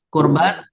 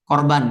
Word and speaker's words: kurban: Yang salah adalah korban ya. Korban ya.